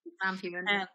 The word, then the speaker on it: Sam Heughan: World War II nurse, and she's playing opposite Sam Heughan. Is that how you pronounce that name? Yeah, Sam Heughan.